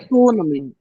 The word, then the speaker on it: economy: Economy. The stress is on the second syllable.